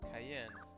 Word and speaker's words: Cayenne: Romano is that good enough that's definitely gonna be you say your name is Cayenne yes it's pronounced like the pepper I don't see that